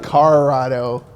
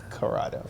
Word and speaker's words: Corrado: It's not a Colorado. It's a Corrado.